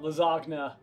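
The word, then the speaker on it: Lizagna: How about Lizogna? L-I-Z-A-G-N-A. Just like right classic lasagna spelling? No, it's spelled Lizogna. L-I-Z-A-G-N-A.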